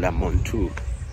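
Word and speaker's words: Mantoux: I think he was called Montu. Yeah, so the X is silent.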